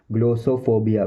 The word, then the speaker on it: glossophobia: इसको English professional language में बोलेंगे ग्लोसोफोबिया, ग्लोसोफोबिया, ग्लोसोफोबिया, ग्लोसोफोबिया, ग्लोसोफोबिया, ग्लोसोफोबिया, ग्लोसोफोबिया, ग्लोसोफोबिया, ग्लोसोफोबिया, ग्लोसोफोबिया, ग्लोसोफोबिया।